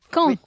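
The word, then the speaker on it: Caen: it like when okay it's like q u a n d so why is it Kong Kong that's it Kong okay it's very easy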